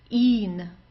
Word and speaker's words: ihn: Ihn. Okay, ihn, ihn. So it's just a long I and then an N.